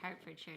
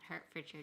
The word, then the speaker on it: Hertfordshire: I don't know, but Paul's also telling me that Hertfordshire is pronounced Hertfordshire, not Hertfordshire, just helping out.